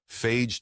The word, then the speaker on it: Fage: Healthy pick number one, Fage Total Plain Greek yogurt. Fage, pronounced FA, though most Americans say and the company seems to have accepted that, is one of the most straightforward yogurts you can buy.